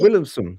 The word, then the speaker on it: Williamson: Uh like you did. And I'm totally flabbergasted. They call me, they give me every name like Williamson and Williams. But you pronounce it perfectly. Oh, thank you. Williamson.